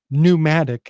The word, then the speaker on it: pneumatic: But when people say that word today, they don't take the trouble to stumble on the silent P. They just call it a pneumatic hammer. But it has that silent P that pressurizes the whole the whole word really.